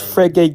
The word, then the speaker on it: Frege: How do I pronounce it? It's Frege Geach. Oh, okay. Frege.